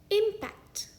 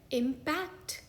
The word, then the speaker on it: impact: इस शब्द का एक उच्चारण है इम्पैक्ट, यानी कि टक्कर। इस शब्द का दूसरा उच्चारण है इम्पैक्ट, यानी कि प्रभाव।